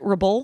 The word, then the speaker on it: Rebull: Am I putting the accent on the right? Rebull?